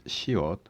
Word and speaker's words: 시옷: Next consonant is 시옷, which sounds almost S.